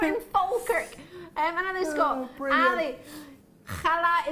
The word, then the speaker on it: challah: Challah is pronounced challah. Hala. Hala. It's a Jewish variety of bread. It looks like a brioche. Great show as always. Thanks, Robert, although we can't pronounce it. Ali, think of the pronunciation of CH in Loch.